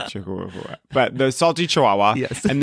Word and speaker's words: Chihuahua: the salty chahua HOA wait did I spell it wrong is that what you're saying it that way no no it's no it's chihuaha I always think it's funny to say Chihuahua but the salty Chihuahua